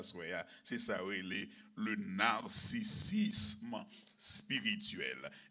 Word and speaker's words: narcissisme: C'est ça, le narcissisme spirituel. N-A-R-C-I-2-S-I-S-M-E, comme cela se prononce.